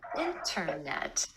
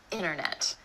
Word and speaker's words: internet: It happens when the T comes after the N or N sound in an unstressed syllable in words like internet. So instead of internet, you'll hear a native speaker say internet.